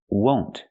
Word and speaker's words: won't: Use the long O sound like no and go. Won't.